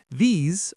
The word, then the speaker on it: these: Example one, these are my friends. Example two, I love these cookies. Example three. Can you wash these plates? Now practice the pronunciation. Smile and make it long.